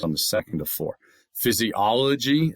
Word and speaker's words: physiology: Physiology is five, accent on the second. Okay? Or sorry, the third physiology third out of five.